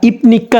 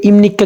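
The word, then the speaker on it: 입니까: বাক্য দ্বারা ঠিক আছে এটাকে আমরা ইফনিক্কা না বলে ইমনিক্কা কেন বললাম ওই যে ভিউ ভাতমের পরে নিউন আসলে ভিউ ভাতমের পরে যদি নিউন আসে তাহলে নিচের ভিউটি পনা হয়ে ম এর মত উচ্চারণ হয় ভাতমের নিউম ওকে তাহলে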